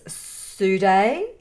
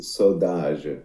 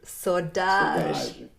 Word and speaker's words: Saudade: Let's move forward to your 2014 latest, which is Sude. Did I say it right this time? So, it is Saudade. Saudade.